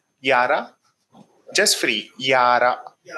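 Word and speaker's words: Jahre: Yara al this J is pronounced Y. Hence, yara.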